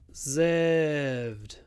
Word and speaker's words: reserved: thing here is to remember where to put the stress reservation reservation so we have a long ver reservation but re reserved reserved reserved along for the second syllable reservation reserved reservation reserved